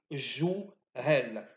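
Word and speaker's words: جهال: Donc vous êtes des jouhel, en 2 syllabes.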